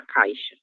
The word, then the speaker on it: caixa: A letra X seguida do se me olvidou ele nome desta coça do ditongo ai terá som de de chã o mesmo som do ch. Então será caixa. Ok.